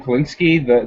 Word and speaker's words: Kalinske: It's got Tom Kalinske. How do you say his name? Kalinske or Kalinsk? Yeah, Tom Kalinske.